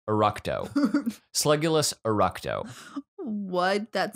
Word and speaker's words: Eructo: moving on to this goofy one uh slugulus erecto eructo slugulus eructo what that sounds profane okay it's